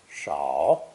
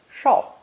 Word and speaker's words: 少: In modern Chinese, however, they've been differentiated, this new version being pronounced either third tone, shao, shao, or fourth tone, shao, shao.